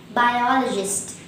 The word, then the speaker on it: biologist: the first person now the word biologist has four syllables by the second syllable all is stressed and there is one shrine in this world hence the correct pronunciation will be biologist repeat up to me